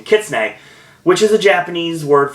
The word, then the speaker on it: kitsune: connection that goes through kissne I'm using pronunciation thank you Wikipedia for the uh pronunciation kitsne which is a Japanese